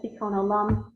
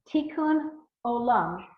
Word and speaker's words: Tikkun olam: Tikkun olam. Tikkun Olam. Again, it's a Hebrew word, and I can spell it, but it's not. It's a transliteration. I mean, it's like Tikkum and then Olam.